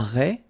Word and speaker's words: raie: Ok, so, le merlan, la raie, final E, not pronounced, la sardine, you don't insist on the final E, it only gives you the N, N pronunciation, sardine.